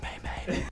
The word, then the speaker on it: meme: It's pronounced Maymay.